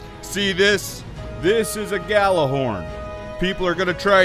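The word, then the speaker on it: Gjallarhorn: all right then see this this is a Galah horn people are going to try and convince you it's pronounced Yer horn but it's not other acceptable pronunciations are baller horn Gorn and Galah hor but never ever yalah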